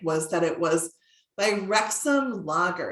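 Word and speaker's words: Wrexham: aboard the titanic was that it was by rexum lager it's spelled w-r-e-x-h-a-m and it's an english brewery and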